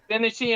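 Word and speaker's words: Genesee: Pacific transfers local service in Eugene Oregon to janesse and Wyoming Central Oregon and Pacific Railroad I say that right Jessie is that what how you say it Gennesse and Wyoming Gennesse there we go jese and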